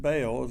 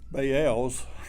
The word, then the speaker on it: Baal: sometimes we pronounce it baals it's actually bael's it's two syllables uh in hebrew and if you want to know what i'll just call it bail that's what everybody calls